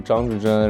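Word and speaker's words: 张志臻: 我的名字因为正常来说是张志臻，然后对于老外来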